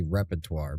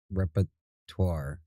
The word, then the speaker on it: repertoire: It It's technically repertoire, but they call it repettoire.